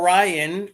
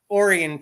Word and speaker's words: Orion: or Orion technically but if you're from Michigan it's orian Township it's area that instead of being Orion I can't even say it wrong I can't say it the right wrong way it's normally pronounced Orion like is in Orion's Belt right but we said orian here I don't you guys